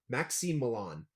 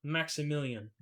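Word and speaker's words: Maksymilian: Maxime Milan, or Million, essentially. But it's pronounced Maximilian. But that's just the westernization It- of it.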